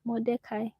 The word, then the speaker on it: Mordecai: Mordecai.